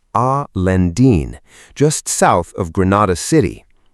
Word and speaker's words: Alhendín: Gójar, a town beside Alhendín, pronounced Al Lendín, just south of Granada city.